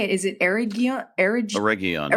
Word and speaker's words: Eregion: Eregion is the way I said it, yeah. Thank you. Oh my It's always a hard G.